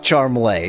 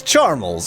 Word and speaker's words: Charmles: But it's not Charmley, it's Charmels.